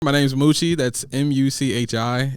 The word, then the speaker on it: Muchi: My name's Moochie. That's Muchi. It's pronounced the noise of a cow and half of cheese.